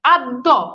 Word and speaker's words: আদ্য: আচ্ছা, যেমন খেয়াল করে দেখেন আদ্য, এই যে দেখেন এখানে একটা জফলা আছে শেষে। এবার দেখেন আদ্য, এই যে দেখেন দয়ের দ্বিত্ব হয়েছে। মধ্য, যেমন দেখেন এই যে দয়ের দ্বিত্ব হয়েছে।